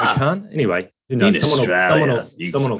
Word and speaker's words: Macan: often get tongue-tied with what we call Macan, and we've been told it's Machan. Machan, yeah. No, it's Macan. It's Macan. Macan.